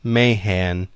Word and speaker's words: Mahan: Editor's notes, halfway through recording, I realized Mahan was actually pronounced Mayhan.